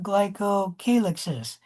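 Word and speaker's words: glycocalyx: And there are three types of glycoalixes. And you can call that glycoalix. Glycoalix. Both pronunciations are correct.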